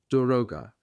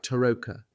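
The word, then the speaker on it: дорога: By having people say it, you know immediately if you've got a Russian or a German heading your way. Germans can't pronounce it properly when they say it. It always comes out sounding like Toka.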